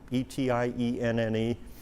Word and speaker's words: Etienne: Um Etienne's another one, e t i e n n e. But you say it Etienne.